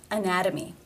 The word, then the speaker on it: anatomy: Again, it is a T between two vowel sounds. Anatomy, anatomy. Therefore, it is the flap T sound or D, anatomy.